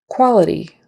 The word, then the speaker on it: quality: e d d Department Quality quality q u is going to sound like there's a w in there more like a KW sound quality quality short eye